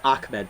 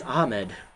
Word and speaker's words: Ahmed: I like how they say it's Amed, but there's only there's no C. It's Ahmed.